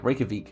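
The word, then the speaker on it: Reykjavík: her we yeah yeah Reykjavik is how you pronounce it so okay next one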